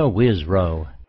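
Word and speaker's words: Wisrough: Wisrow.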